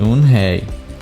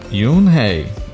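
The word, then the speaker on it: Unhei: turned to joy she nodded slowly yes it's pronounced un hey and it means grace mystic kim added yoon hey joy said slowly and this time perfectly it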